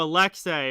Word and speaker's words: Alexei: It's pronounced Alex, saying A at the end. Oh, Alexei.